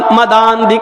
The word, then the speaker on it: मदांध: आ पढ़ा जाएगा और जब एक साथ मिलाकर पढ़ेंगे तो उसका उच्चारण तलफ कैसे होगा प्रशन उसका क्या होगा मोह म म मदांध काम मदांध काम आ गिर जाएगा और वो आ की आवाज दा के दा में बढ़ जाएगी मोह मदांध काम नाश